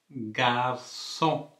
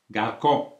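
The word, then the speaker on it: garçon: கார்சோன் என்று உச்சரிக்கிறோம், கார்சோன். அப்போ அந்த குறி இல்லாட்டி என்னென்று சொல்லுவோம்? கார்கோ என்று சொல்லி வந்துடும். என்ன? அப்போ அது அவ்வளவு இனிமையாக இல்லை. ஆகவே வந்து இந்த குறி இடுவதன் மூலம் கார்சோன் என்று சொல்லி உச்சரிக்கிறோம். சரியா?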